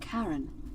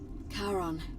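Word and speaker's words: Charon: it's just as you described it only your pronunciation is a little off the name you heard wasn't karen it was c h r as in caron the ferryman of the dead karon who in exchange for the right coin helps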